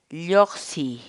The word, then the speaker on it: lluqsiy: día por hoy es yo sí yo sí yo csy la palabra quechua y oxy en español significa